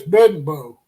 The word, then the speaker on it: Bedenbaugh: You've been talking about me pronouncing Bill Bedenbaugh wrong. Bedenbaugh. By the way, it's Bedenbaugh.